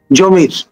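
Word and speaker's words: Zamor: অন্যতম মহানায়ক চট্টগ্রামের সন্তান জমির যিনি প্যারিসে গিয়ে থিত হয়েছেন জমর হিসেবে ফরাসি উচ্চারণে এবং আপনার ভারসাই প্যালেসে তিনি বেড়ে উঠেছেন।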